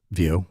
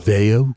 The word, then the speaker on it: Veo: Vio will be Vo, whatever the heck is actually Veo. Veo. You have to say it like that.